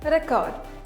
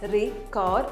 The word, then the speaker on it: record: starting with a word record it's record as a noun record as a word